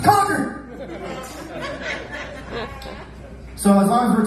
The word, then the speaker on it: Concord: Concord, that's not how we say it. We don't pronounce it that way. We're not that sophisticated. Okay? Say it like me, like you've done meth at least a few times. Concord!